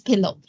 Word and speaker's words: PIL: python Imaging Library pil which sometimes people pronounce it as pillow okay these are two